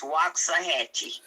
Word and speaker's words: Waxahachie: Yeah, but I know you have a hard time pronouncing the Texas town I'm in. It's Waxahachie.